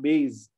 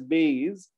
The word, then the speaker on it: base: So a lot of these words which are mispronounced, base, it's base, not base. B-A-S-E, Indians usually pronounce as base, but it's not a Z sound, it's a S sound. You say base, right?